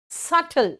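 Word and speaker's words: subtle: सल बेटा सबटल का भी साइलेंट है।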